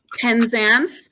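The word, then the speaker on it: Penzance: because I know how to say it now pen ANS I mean I had the best time I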